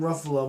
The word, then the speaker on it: Ruffalo: I'm Ruffalo. My name rhymes with Buffalo.